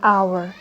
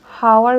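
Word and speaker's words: hour: She return after an আওয়ার। এখানে আওয়ারের উচ্চারণটার দিকে লক্ষ্য করি। আওয়ার, এখানে হাওয়ার উচ্চারণ করিনি, এই যে আমি উচ্চারণই করিনি, এখানে আওয়ার উচ্চারণ করেছি, তাই অ্যান আওয়ার হবে।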